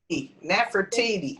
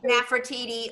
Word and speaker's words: Nefertiti: Nefertiti. Nefertiti.